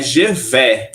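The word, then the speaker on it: je vais: bem tá correto mas só a pronúncia do eu vou o eu vou em primeira pessoa ele é gev gev gev a La Plage eu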